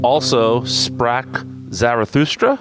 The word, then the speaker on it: Also sprach Zarathustra: It is also Sprach Zarathustra. Is that the correct pronunciation?